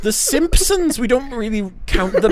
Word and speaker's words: Simpsons: they were like NOP no we don't pronounce the P Simpsons how strange is